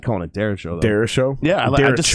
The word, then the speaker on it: Derecho: And I think the way it sounds cool that way. It kind of sounds like Jericho.